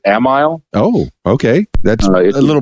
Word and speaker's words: Amiel: The middle name is pronounced in the family as Amiel.